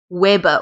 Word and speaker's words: Weber: let's just mention that the unit for magnetic flux is Weber or Weber doesn't matter how you say it WB so it